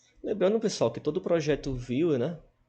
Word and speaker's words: Vue: A pronúncia é a mesma do VUE e do Viewer de visão, né?